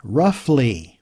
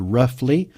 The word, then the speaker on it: roughly: meanings to this word roughly one thing that will give you some difficulty in English is the o-u-g-h and it's pronounced different ways sometimes but in this case